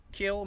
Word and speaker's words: Kiln: when the locals say the end is silent correct kill mississippi so anyway here's